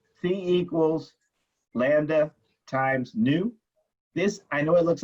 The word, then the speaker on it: nu: Okay, so here, C equals lambda times nu. This, I know it looks like a V, but it's really a nu, as in I wear new shoes, nu. But it's spelled N-U, okay?